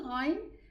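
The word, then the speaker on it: غ: So if I want to know where the Ghain is pronounced from, I will say Al, Al, and push the Ghain, and you will see and you will feel exactly where the Ghain is pronounced from.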